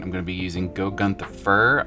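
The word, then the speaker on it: Gore-Grunta Fur: going to be using go Gunther fur I believe is how you say it and the trick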